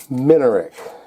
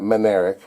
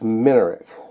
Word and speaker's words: Minarik: And I've been saying it wrong. It's a Minarik, not Minarik. It's Minarik.